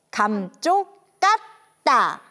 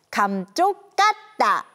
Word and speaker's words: 감쪽같다: 쓸 수 있는 말이에요 읽을 때는 감쪽 같다라고 발음해야 해요 우리 함께 발음해 볼까요 감쪽 까다 감쪽 같다 감쪽 같다 감쪽 같다 그런데 감쪽